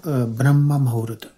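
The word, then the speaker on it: Brahma Muhurta: A jeżeli mówimy o dokładnej medytacji, to powinna być podczas Brahma Mahurta. Możesz jeszcze raz powiedzieć tą nazwę? Brahma Mahurta. Mahurata? Zawsze miałam problem z wymową tego.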